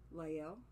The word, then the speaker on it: Lael: I think her name is pronounced Hayisa Lael. L-A-E-L, Lael. Oh, Lael, like Lael.